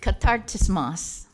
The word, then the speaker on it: Katartismos: It's Greek, it's not Chinese, so Katartismos.